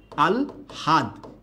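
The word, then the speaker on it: আহ্লাদ: কথা কি বুঝতে পেরেছেন তাহলে উচ্চারণের সময় হয়ে যাবে কি আগে হ না আগে ল আগে ল আর হ পরে আল হাদ এটা হচ্ছে এই শব্দটার সঠিক উচ্চারণ সবাই কথা কি ক্লিয়ার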